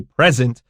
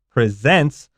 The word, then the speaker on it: present: easy Bo home alright this present stresses the second syllable this is the verb not the now we don't say present this is presents and be careful because